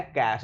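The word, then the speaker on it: cache: ये वर्ड है कैश, इसका उच्चारण होगा कैश।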